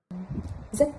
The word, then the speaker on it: rất: Alors, le A accent circonflexe, il se prononce comme un E de heure, comme dans l'exemple Jot, dep, jot, dep. Et avec l'accent du Nord, ça donne. Rất đẹp.